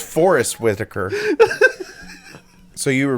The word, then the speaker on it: Forest Whitaker: guess myself when I I say it it's Forest Whitaker so you were wrong on both of you